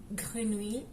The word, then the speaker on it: grenouille: Le mot grenouille, par exemple, dans ce cas-là, le E doit être prononcé car il est impossible de ne pas le prononcer, tout simplement.